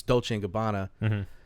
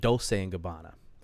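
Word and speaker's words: Dolce & Gabbana: uh and it's it's dolce gabbana and she pronounced it dolce gabbana i'm not making fun of her i love my mother okay but i corrected her i said it's dolce gabbana and she goes if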